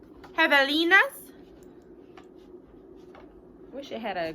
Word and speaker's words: Javelina: Javelina. There we go. That is how you pronounce it.